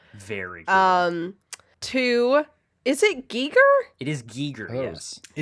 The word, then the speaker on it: Giger: phonetic alphabet that Wikipedia uses for all their pronunciation shit. And I don't remember how to read it anymore, but it's Giger.